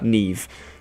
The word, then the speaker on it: Niamh: Okay, so this is how you actually pronounce them. That's how. Neve, Siobhan, Naomi, Siobhan.